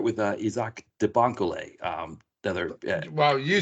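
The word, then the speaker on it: Isaach de Bankolé: Isaac de Bancole, yes.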